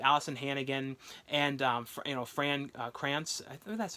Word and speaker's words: Fran Krantz: and this started alyson hannigan and you know Fran Krantz that's how you say his name who was